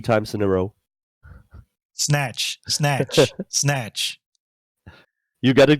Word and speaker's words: Znatch: ScrMz, can you pronounce Znatch like 3 times in a row? Snatch, snatch, snatch.